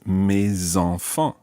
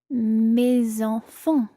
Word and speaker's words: mes enfants: So normally the S is silent, but when it's followed by a vowel, it becomes mes. In this case, mes enfants. Mes enfants.